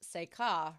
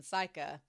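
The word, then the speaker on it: Seika: Um, also with episode five, uh, Kaga69 00 says, "By the way, uh, Seikka is pronounced Seikka rather than psycha, and it means star song, which is probably where the club star comes from."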